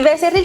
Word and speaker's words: Becerril: Trabajaste como ingeniera departamento en el área biotecnológica en la empresa Becerril Coca and Becerril. ¿Lo pronuncié bien? Y y Becerril, Coca y Becerril.